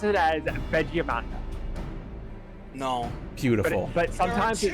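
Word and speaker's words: Valigarmanda: He pronounced it as Vegiamanda. No. Beautiful. But sometimes it sounds beautiful. Like badge. There are Vegiamanda. Both Valleygarmonda and Valleyarmanda are acceptable.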